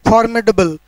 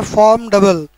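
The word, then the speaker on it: formidable: हो, मतलब कठिन चीज़, फॉर्मिडेबल। ऐसे आई का उच्चारण इसमें नहीं होता है, इसको हम पढ़ेंगे फॉर्मडबल, फॉर्मडबल।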